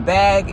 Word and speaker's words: BHAG: to do is write what's called a bag. And I had heard this before, but I was reading up on vision boards about a month ago and came across this again. And the bag is spelled BHAG.